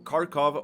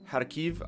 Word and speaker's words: Kharkiv: Hey guys, Mono here and welcome to Kharkov or Kharkiv. I believe that's how you pronounce it in Ukrainian.